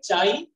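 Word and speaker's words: χ: जो ये है बेटा इसको क्या प्रोनाउंस करेंगे, चाई, ठीक है।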